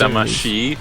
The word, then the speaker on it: Damacy: That was a And good it's Damashi, you weeb.